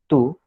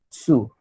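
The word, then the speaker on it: つ: Okay, सो फिर अभी 1 minute, this, इसको हम लोग टू प्रोनाउंस नहीं करेंगे, sorry, will not pronounce it as tu, but will pronounce it as su.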